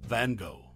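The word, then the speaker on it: van Gogh: FED Dutch painter's name van go while ISAC insists on the correct Dutch pronunciation rhyming with low Mary persistently Rhymes and with lock reminiscent of lock Ness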